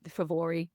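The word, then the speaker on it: Fomóraigh: In Jack, who is the king of the Fomorians, the Favori, as they should be pronounced in the in the correct tongue, who are the kind of the monstrous race who do battle with the Tuatha Danann.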